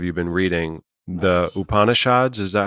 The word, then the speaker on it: Upanishads: Upanishads, is that how you say it? Yes. The Yes. Upanishads, I picked up the Tao of Pooh because